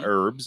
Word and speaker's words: herb: my vitamins and my herbs and whatnot your herbs my herbs yeah i call them herbs you would they shouldn't have an h on if you don't want the h sound you like the whole